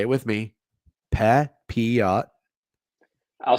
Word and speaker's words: Pepiot: Papiot.